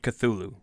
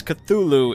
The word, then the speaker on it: Cthulhu: of the matter is this is an alien name and to be spoken in an alien tongue so no answer is truly right since Cthulhu is the most common pronunciation that is what I will continue to use contrary to popular